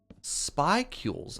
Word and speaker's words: spicule: The paper uses data from different satellites, and I'm using it to figure out the statistics of where events called spicules appear on the sun.